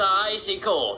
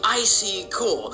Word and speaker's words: Icy Cole: the entire internet because how you actually say my name is Icy Cole. Stop. Icy Cole. Oh, yeah. Icy Cole. Yeah. Calling me Icy Cool.